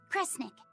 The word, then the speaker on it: Kresnik: The other word attached to it is pronounced cre. Which of those first two readings feels right to you? Sound it out. Cre, Snira, cre, snick. Kresnik. Kresnik feels right somehow.